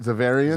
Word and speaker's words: Xaverian: How do you say it? Zavarian.